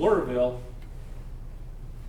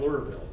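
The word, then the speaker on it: Lura: And he establishes a community called Lurville, down at Lurville, on the Suwannee River.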